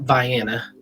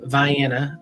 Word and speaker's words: Vienna: it's a little town they call it Vienna. That's how they pronounce it there, but Vienna, Ohio. Spelled like the classic Austrian city though.